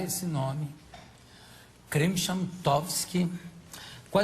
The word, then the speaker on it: Krymchantowski: Dificuldades que foi para aprender a pronunciar esse nome. Krimshamtovsky.